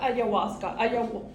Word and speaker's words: ayahuasca: my presentation okay so about ayawaska I'm sorry it's pronounced like that is considered an illegal